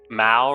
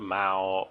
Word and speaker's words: Mao: Mao rhyming with pow, not Mao rhyming with toe.